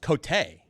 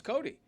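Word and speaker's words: Cote: Your name actually is pronounced Cotay, but you say Cody. I know. So, it's Cody.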